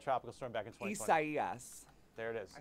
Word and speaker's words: Isaias: How do you pronounce that tropical storm back in 2020? Isaias.